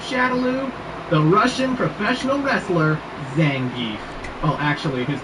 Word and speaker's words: Zangief: the Russian professional wrestler Zangief. Well, actually his name is pronounced Zangia, but I've been calling him the gef since